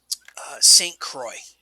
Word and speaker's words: St. Croix: St. Croix. Stcrouix. Yeah, it doesn't look like St. Croix in any way you would spell it phonetically if you're a foreigner.